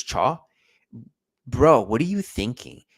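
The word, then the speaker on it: Thiaw: a bad mistake by Chia, I think is how you pronounce his name. It looks like Thea. I think it's Cha.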